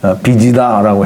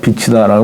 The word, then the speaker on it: 빚: 빚이다라고 해야 되는데, 빛이다라고 하면 이제 햇빛 같은 그런 느낌이 드는데, 빚입니다. 빚.